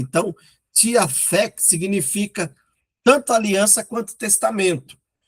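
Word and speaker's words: διαθήκη: A palavra grega diathekes, ou alguns podem pronunciar diateque, mas no grego, todas as vezes que tem o T e o H, né, respectivamente aí a língua portuguesa, se pronuncia fek.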